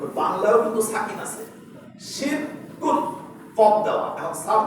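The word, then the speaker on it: شرك: আপনারা কি কিছু বুঝেছেন শব্দটার উচ্চারণ কি হবে শিরক শিরক শিরক তালিব স্বয় রসিক র এর নিচে রস শিরক শিরক শিরক বুঝতে পেরেছেন তো আরবিতে শিন র জের শির কাফ দুই পেশ কুন শিনক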